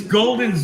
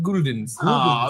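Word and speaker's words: Gulden's: Look, it came with all this Golden's mustard. You retard. You mean Guldens? You have. It's actually, according to Garrett, pronounced Guldens.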